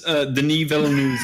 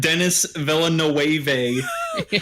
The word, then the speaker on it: Denis Villeneuve: Here's how you pronounce Denis Villeneuve's name. Denis Villeneuve, not Dennis Villeneuve.